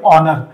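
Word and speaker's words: honour: चा उच्चार करत नाहीत एच सायलेंट असतो म्युटेड असतो आणि मग होतं काय जर एच चा उच्चारच केला गेला नाही याच्या असून देखील स्पेलिंग मध्ये एचला आठवतात पण त्याचा उच्चार करत नाहीत तर उर्वरित शब्दाचा उच्चार केला जातो आता बघा बर तुम्ही या शब्दाचा उच्चार करा या शब्दाचा उच्चार होईल ऑनर म्हणजे इथं दिसायला तर एच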